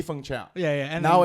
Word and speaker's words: Feng Chao: to correct people so what is the correct pronunciation of your name it used to be fung chao you should be functional then people could now no no it doesn't matter it used to be fung chow yeah yeah and now